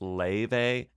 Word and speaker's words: Laufey: Le by the way it's not lve it's Le which is okay it's Icelandic sometimes it can be